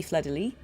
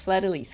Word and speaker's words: Fleur de Lis: If you were pronouncing it with a French accent, it would be Fleur de Lis. You wouldn't say the S. But in this game, it's Fleur de Lis, guys.